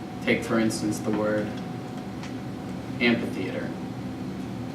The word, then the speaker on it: amphitheater: it how's it spelled Ampitheater Amphitheater right spelled an so we don't like the Dual aspiration there so we drop in pronunciation the H and we just pronounce it Amphitheater the Greeks do the